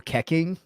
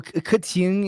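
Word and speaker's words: Keqing: My girl Keking. Is it Keking? No, I never knew how to. A lot. No, Kuching is like how you pronounce it.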